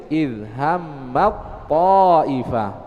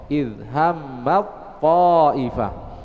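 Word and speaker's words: إِذْ هَمَّت طَّائِفَتَانِ: Pada contoh idhammat ta'ifah menjadi idhammat ta'ifah. Masukkan ke huruf ta. Idhammat ta'ifah.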